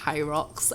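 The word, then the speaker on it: Hyrox: um fitness competition thing called H rocks I don't know if you I don't know if You' heard of never heard of this it's it's spelled h y r ox and it's actually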